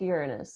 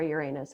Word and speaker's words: Uranus: It's got a really kind of funky orbit, and it's like just past Uranus. So, or Uranus, however you want to say it.